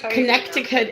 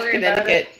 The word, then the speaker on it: Connecticut: It's always Connecticut. Yes. Susie is Susie is from Connecticut. Connecticut. I can't even say Yeah. The C is silent and in there.